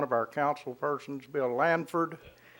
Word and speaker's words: Lanford: our council persons bill Lanford it's LAN F Ord there's no s in the middle like I pronounced it for a while and there certainly is no G in it there's it's not Langford its LAN Ford thank you thank you mr.